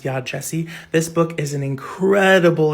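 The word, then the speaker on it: Yaa Gyasi: I used to think this author's name was pronounced Yagyasi, but it's actually pronounced Yad Jesse.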